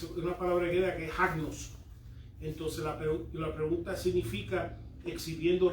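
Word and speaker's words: ἁγνός: Agnos, Con H. que es libre de impureza. ¿Cómo se escribe, papá? Asno, con así, H-A-G-N-O-S, agnos.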